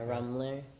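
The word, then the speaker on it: Rummler: Uh, Rumbler. Okay. Spell that, please.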